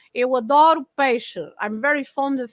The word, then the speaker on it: adoro: So the changing of the stress also changes the way the pronunciation of the O, the way we pronounce the O.